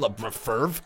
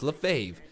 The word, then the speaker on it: LaFave: I think I pronounced it Ryan LaFave or something like that. LaFave. I think that's what I tried to pronounce it as, but it's LaFave.